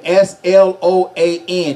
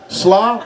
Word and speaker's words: Sloan: Easy name. People for some reason could not pronounce Sloan. Really? Roger? No. Sloan. Slaw? No, Sloan. Shalom. No. Hello.